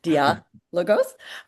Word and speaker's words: Diálogos: I know it's the accents on the A, Diálogos.